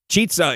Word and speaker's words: Chizza: I would say chizza, like pizza.